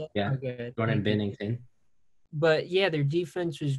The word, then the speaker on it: Binnington: Yeah, okay, Jordan Binnington.